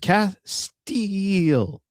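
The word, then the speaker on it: Castiel: I knew that it's pronounced Castile.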